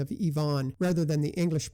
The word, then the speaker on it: Ivan: 11 Labs was on the mark on Ivan Drago the villain in Rocky IV with a Russian pronunciation of Yvonne rather than the English pronunciation of Ivan and Drago rather than Drago who was killed